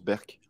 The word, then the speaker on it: Burke: Ça s'écrit Burke, ça se prononce Berk.